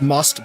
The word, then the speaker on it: Most: Yeah, I know it's uh I think it's more likely pronounced must but uh but uh yeah the but it looks like the word most in English.